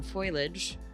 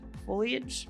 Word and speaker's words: foliage: So now we're going to spend some time finally putting some foilage [constant mispronunciation] foliage, foliage.